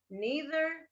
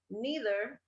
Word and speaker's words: neither: pronunciation of these two neither or either so you can also say neither or either they work these two words have two different pronunciations neither neither either either just